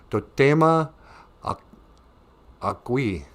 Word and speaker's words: Totema Agui: My Indian name is phonetically Totema Agui.